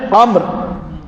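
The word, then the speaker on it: عمرو: حضرت عبداللہ ابن عامر، یہ جو واو ہوتی ہے نا، واو عمر اور عامر، تو یہ واو ہوتی ہے صرف تلفظ کے فرق کے لیے، یہ امرو نہیں پڑھنا۔ جہاں واو ہو وہاں عامر ہے، جہاں واو نہ ہو وہاں عمر ہے، یہ فرق ہے۔ یہ جتنے اسٹوڈنٹ محقق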